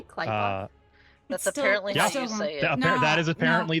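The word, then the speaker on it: Qlippoth: Did you just say Kleoth? That's apparently. That is apparently the correct pronunciation. We should go back to the better pronunciation. Um I just wanted to verify because we've been saying clip off forever.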